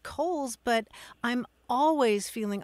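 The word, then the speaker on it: Cowles: known I mean there's a mountain here in in San Diego called Kohl's mountain and for years I called it cowls because um that's what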